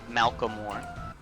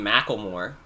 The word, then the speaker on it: Macklemore: say Macklemore's name because I always pronounce it wrong. I'm like Malcolmore. Macklemore? It's not that hard to say. Maybe my accent was just, like, stronger back then. I can't imagine struggling saying Macklemore. Which is not how you say that name.